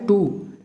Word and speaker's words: two: और सिंपल एक वर्ड है टू, जिसका मतलब होता है दो, तो टू में TWO लिखा जाता है, जबकि स्पेलिंग टू, इंग्लिश का भी तो टू होता